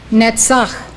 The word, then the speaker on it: Netzach: Netzach, triumph.